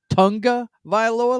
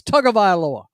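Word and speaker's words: Tagovailoa: And have you noticed all these guys keep pronouncing his name Tonga Vioa? Like there's an N in there somewhere. It's Tug Vioa. They keep saying Tonga.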